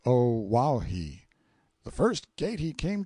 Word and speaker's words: Oahu: I named him after this island, Oahu, pronounced O-Wauhi.